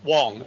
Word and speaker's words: Wong: company uh Wang is am I pronouncing it right Wang or Wong Wong Wong W thank you yeah